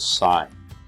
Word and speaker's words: sin: a math function but you still pronounce it sine even though it looks like sin and this is still